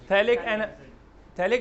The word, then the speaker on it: phthalic: तो थैलिक की spelling start होती है P से, तो क्या होगा? PHTHALIC, थैलिक एनहाइड्राइड, ठीक है।